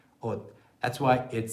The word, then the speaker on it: 옷: bottom line, it's because when 시옷 comes at the very end of a syllable, like 옷, in Korean you cannot pronounce the 시옷, which is roughly the equivalent of S, the sound in other languages. You can't pronounce it because you don't know what word or what vowel is coming after that, so you just stop it right there. 옷, 옷.